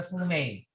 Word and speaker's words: fumet: we had that the next one is the fumey pronounced pronouns is a highly flavored stuff made out